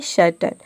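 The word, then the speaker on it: certain: एन आ रहा है यहां पे हम ए आई को अ प्रोनाउंस करते हैं तभी इसका प्रोनंसिएशन होता है सर्टन अब देखिए यहां पे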